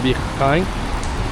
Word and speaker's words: Bir-Hakeim: só fica perto que chama Birhein, acho que é assim a pronúncia.